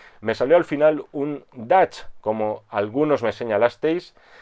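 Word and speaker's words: Dutch: arnold schwarzenegger aquí sí aquí se pronuncia dash sé que en un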